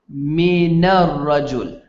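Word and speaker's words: من الرجل: man the man right if I say min or rajul and I want to combine them together I say Mina rajul what do I say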